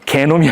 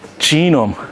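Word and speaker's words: genome: 뭐라고 해야 돼 동일한 유전체 진음 개놈이 아니라 쥐놈 오케이 g를 이제 독일식으로 발음하지 말고 우리가 왜 언제적부터 독일식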